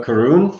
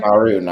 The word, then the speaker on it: Charun: What Karun would say? Who would say? Charun. I didn't realize that's how you pronounce that miserable fucking deity.